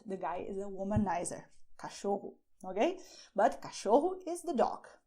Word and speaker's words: cachorro: "CACHORRO". And here hou have the sound of CH, as in "show" in English. You can also say "CÃO".